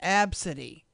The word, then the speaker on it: Abcde: the employee noticed the young passengers unique name pronounced AB City the gate agents started mocking my child's name